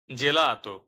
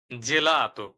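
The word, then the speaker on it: gelato: মত আবার খেয়াল করুন জি এর সাথে যদি এ বা ই এই দুটোর যেকোন একটি বর্ণ যুক্ত হয় সেক্ষেত্রে উচ্চারণ হবে জ এর মত উদাহরণ জেলাত জেলাত জির জির এবং শক্তধনি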